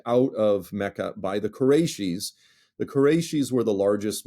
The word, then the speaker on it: Qurayshi: Am I pronouncing Khaybar and Qurayshi correctly?